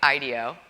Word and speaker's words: IDEO: pronounce um you're actually you're supposed to punch the eye Ideo um is the way to say it so you know I'm